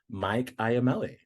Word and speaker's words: Iamele: Welcome to this episode of Queer Changemakers, and today we have Mike Iamele.